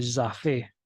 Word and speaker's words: Jaffe: Hay un ramo del nervio facial que se llama nervio de Jaffe, con J y con doble F, acento en la E.